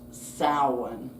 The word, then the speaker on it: Samhain: Spelled s a m h a i n but pronounced sin which is a Gaelic word.